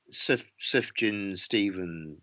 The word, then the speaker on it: Sufjan: Sufjan Stevens. Oh, Sufjan. Yeah, Sufjan.